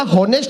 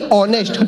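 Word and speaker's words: honest: अब ये बोला होनेस्ट नहीं ऑनेस्ट, होनर नहीं ऑनर, इसमें एस साइलेंट आता है।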